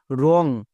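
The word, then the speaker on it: wrong: ডব্লু আর ও এন জি, রং। তাহলে ডব্লু কখন silent থাকে আশা করি সবাই বুঝতে পেরে গেছো।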